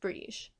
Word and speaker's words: Brighid: entails for me I've never really talked about brege in depth before um and I say bre brege is the Irish pronunciation of her name brege and I'll get to why why I say